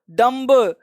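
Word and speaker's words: dumb: अब ऐसे लोग बी है तो बी पढ़ना पड़ेगा, लेकिन कॉन्सेप्ट कहता है कि एम के बाद, देखो एम के बाद और एम के बाद बी, कौन सा वर्ड? बी प्रायः साइलेंट होता है।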